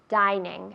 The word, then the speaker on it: dining: Dining no. Dining. Es una I fuerte.